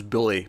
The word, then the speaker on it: Bully: they were both called Billy. It wasn't until quite late on where I finally heard them pronounce it as Bully properly, and I was like, oh, it's Bully and Billy.